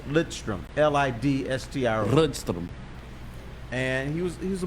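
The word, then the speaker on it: Lidström: half the people thought his name was nick lindstrom that's what i thought it was right how do you say it what's the proper way it's lit strom and l-i-d-s-t-i-m was he's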